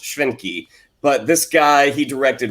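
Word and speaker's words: Schwentke: by robert uh it he's german so i believe it would be pronounced schwenky but this guy he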